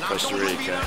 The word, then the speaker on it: Costa Rica: thank you very much Costa Rica oh you say cast I say coaster Costa Rica yeah that's not the right way to pronounce it you know